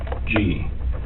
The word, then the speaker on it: Ravnsborg: Ravnsborg. Okay. But it's pronounced rounds, like a round circle. Okay. Berg, like an iceberg. It's Danish.